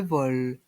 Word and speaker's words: vol: Viion l'avion le vol ici le l reste en suspend le vol le vol le départ